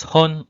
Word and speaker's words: 本: counting long objects so it is pronounced as hon or pon depending on the number and this counter is